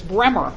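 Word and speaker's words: Bruemer: You would think that's Brumer. No, it's Bremer. The U is silent.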